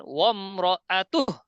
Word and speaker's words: وامرأته: وامرأته وام وامرأته وامرأته একদম স্পষ্ট ভাবে বলেন ওয়ামরাআতুহ। وامرأته وامرأته হ্যাঁ, কোনো নরমাল ইয়া করবেন না, একদম মজবুত করে উচ্চারণ করবেন।